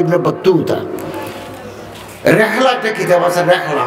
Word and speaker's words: ইবনে বতুতা: হযরত শাহজালাল রহমতুল্লাহ আলাইহি ইবনে, কথা শেষ, ইবনে বতুতা, আমরা ইবনে বতুতা বলি আর কি, আসলে উচ্চারণ হচ্ছে ইবনে বতুতা।